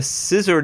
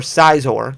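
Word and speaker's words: Scizor: now it's just below 20 which is a 41 drop the scissor gx or size ore depending on how you want to pronounce it was 37 in january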